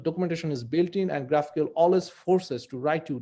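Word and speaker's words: GraphiQL: id is called uh graphical although it's it's pronounced as graphical graph iql so whenever here you can see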